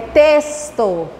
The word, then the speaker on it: texto: Quando o X vem na frente do T, a gente vai ter a pronúncia de S. Texto.